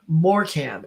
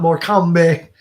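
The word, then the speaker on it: Morecambe: man good you know pronounced uh more Cam and wise okay so let's go back and see some more Cam and wise okay oh more cam got it no not more comeback clearly I don't know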